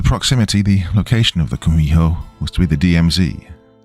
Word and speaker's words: Kumiho: In Japanese, you've probably heard of it as Kitsune. Though in Korean, it's pronounced Kumiho.